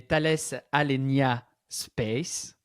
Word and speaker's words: Thales Alenia Space: Clément, tu travailles chez Thales Alenia Space, ça va? J'ai bien prononcé.